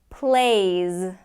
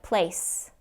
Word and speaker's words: plays: he knows everything knows plays plays if you don't get that Z at the end it's going to sound like place place okay plays plays